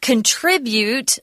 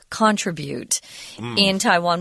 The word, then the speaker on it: contribute: I want to remind everybody that when you pronounce the verb form contribute, that the zhongyin or the heavy accents on the second syllable, I hear a lot of contribute in Taiwan, which is incorrect.